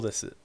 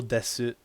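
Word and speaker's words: です: So when you first learn the language, right, you'll literally pronounce this so desu, so desu, and then you realize that this desu becomes des in real life.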